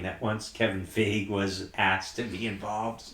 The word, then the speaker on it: Feige: The more important thing that we have to talk about is you said Feig. It's Feige.